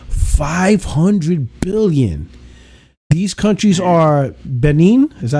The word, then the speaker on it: Benin: amounting to about 500 billion these countries are Benin is that how you pronounce it Benin yeah bur B Ben Ben b b there